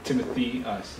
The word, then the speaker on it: Timotheus: I say, you know, Timothy us. So it's Timothy us. People try to overcomplicate the name, but Okay. it's pretty straightforward usually. Yeah. When you see it spelled, you might want to pronounce it like Timotheus or something like. Well, from I like Greek. I like Timotheus. So it depends on how you rhyme with like Amadeus. Exactly.